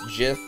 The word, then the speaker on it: GIF: to jump down there the G is for graphics it has to be get not [ __